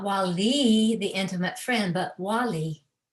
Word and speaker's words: wali: to our true self w a l i with the accent on both syllables not wali but wali wali so allah has blessed